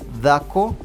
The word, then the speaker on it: dhako: But if I try to say whatever he's saying is Dhakona. So what I get is that for a woman, the word woman in Luo of Kenya is dhako, D-H-A-K-O, while for Langi it's dako, D-A-K-O.